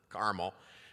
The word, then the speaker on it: Carmel: the Jewish temple in Carmel Indiana and yes that's how they say it there caramel just like they say